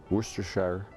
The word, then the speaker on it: Worcestershire: Feta cheese, Worcestershire, as is correct pronunciation.